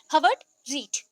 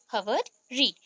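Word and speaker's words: Herbert Read: हम बोल सकते हैं प्रॉपर प्रनंसीएशन हम करते हैं ना तो आर प्रोनाउंस नहीं होगा यहां पे हावर्ड रीड हावर्ड रीड इनका बर्थ था 1893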